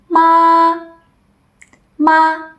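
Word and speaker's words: 妈: first tone looks like we call it high flat like a mosquito trapped in a jar for example Ma ma means mother now repeat after me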